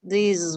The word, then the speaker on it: these: But these, you pronounce with the long vowel sound with the Z.